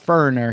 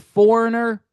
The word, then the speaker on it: Foreigner: I'm just going to talk about FURANER here. FURANER. Where'd that syllable go? You lost a syllable. Go find it.